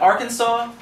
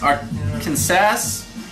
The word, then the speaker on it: Arkansas: And it's not pronounced the way it looks. It looks like Arkansas, but it's pronounced Arkansas.